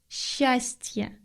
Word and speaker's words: счастье: The next word is счастье.